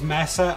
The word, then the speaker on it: Mesa: Now, outside of infested missions, Mesa or Misa, depending on how you want to pronounce it, will need a good